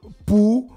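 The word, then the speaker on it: Pouzauges: Son club de Bouzoges. Voilà, c'est bien prononcé.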